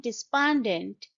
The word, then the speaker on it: despondent: the comment section despondent it's a three syllable word and as you might have noticed the stress is on the second syllable bant Des respondent despite his efforts he remained despondent unable to shake off